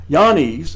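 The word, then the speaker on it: Jannes: Now, as Yanes and Yambres, and yes, that's how it is actually pronounced, withstood Moses, so do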